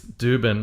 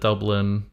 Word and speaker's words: Dubin: I think it's Dubin. I think I pronounced it Dublin on the Point Assistance episode.